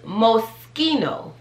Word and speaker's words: Moschino: remember that okay so i used to say moschino that's also a no-no that's not how you say that it's moschino moschino that one's pretty